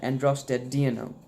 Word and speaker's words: androstenedione: Thank you, and heads up and shout out to the guy in a previous video who helped me pronounce that, androstenedione.